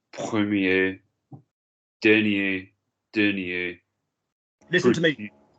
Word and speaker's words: première: Premier, première, dernier, dernier. Listen to me. Petit. Male, female. Premier, we're not pronouncing the R on the end. Première, we're pronouncing the R on the end.